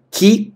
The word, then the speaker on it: que: Ки калор, ки калор. Как жарко. Ты помнишь, что в данном случае э у нас в безударной позиции, поэтому произносим ки.